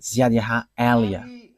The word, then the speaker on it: YAHVAH Eliah: that is my name, so I pronounce it as my father pronounced it, YAHVAH Eliah.